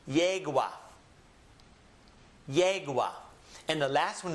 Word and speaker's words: yegua: beginning of a word, it will always have a Y sound, just as it is in English. So this word is pronounced ayer. Read it with me. Ayer. The second one is pronounced yegua.